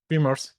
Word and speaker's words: Vimers: Vimers.